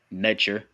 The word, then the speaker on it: Neter: Then you have Netter or Netcher, more accurately pronounced, Neter.